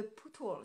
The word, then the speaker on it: Pootles: Elle est connue sous le nom de Pootles. Ça s'écrit P-O-O-T-L-E-S.